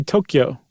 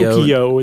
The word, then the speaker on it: Tokyo: Or I should say Tokyo. I I've I've been saying it wrong. Yumi says, "Oh, Tokyo. Tokyo.